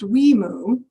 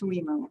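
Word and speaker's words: WIMU: For anyone who is wondering, the resulting name of this program is pronounced WEMU. The state between Washington and Montana is pronounced Idaho. Nevertheless, the abbreviation for our program is pronounced WEMU, and I cannot offer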